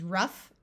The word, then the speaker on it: rough: a few words where GH sounds like the letter F in in both of these words the o u will have a short u sound so this is rough and tough like I said most